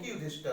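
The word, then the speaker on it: Yudhishthira: इसी प्रकार से युधिष्ठिर नहीं पढ़ेंगे, युधिष्ठिरा।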